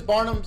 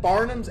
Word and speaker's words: Barnum's: I've always known them as Barnum's animal crackers my entire life.